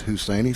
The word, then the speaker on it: Husaini: up number six husaini is how I'm pronouncing it I may have it wrong PA man Jonathan bragwell said it's husainy so I must not